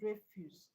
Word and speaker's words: refuse: If you look at it as refuse, the stress will be on the first level.